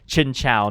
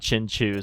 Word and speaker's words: Chinchou: By the way, someone told me that's how it's pronounced. It's Chinchou, not Chinchu.